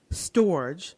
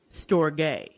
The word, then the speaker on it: storge: we're gonna talk about storage or storge if you want to pronounce it in the proper Greek way I did look it